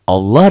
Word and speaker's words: Allah: yang berbaris di atas nih berbaris dhomah lafad Allah dibaca tebel tagline Allah tebel tapi krimnya tebel